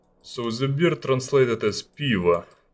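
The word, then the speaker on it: пиво: If you would like to spell it, it would be like P-E-E-V-O. So yeah, it starts with P, and it's like, I know it sounds weird, like P, piva, but that's how we call it.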